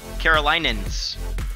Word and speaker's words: Carolinians: Carolinians.